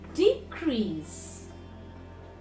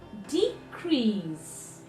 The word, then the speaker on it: decrease: repeat after me context in the verb form it will become contest contest convert convert convert convert decrease decrease decrease decrease so this way